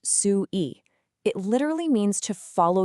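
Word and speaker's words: 隨意: Well, it's captured in this beautiful two-character term, pronounced su-i.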